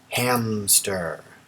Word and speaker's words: hamster: what's our subject hamster there's no P even though we kind of pronounce it with a p hamster this is hamster and